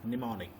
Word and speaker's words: mnemonic: mnemonic codes or symbols m is silent so that's why the spelling starts with n e m o n i c so m is silent mnemonic second it has to